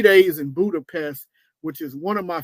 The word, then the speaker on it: Budapest: Of course, there's the Buda side, people say, and then there's the Pest side, Budapest. Even though we pronounce it Budapest, they say Budapest.